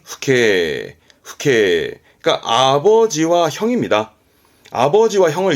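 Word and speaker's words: 父兄: 예, 발음은 후케.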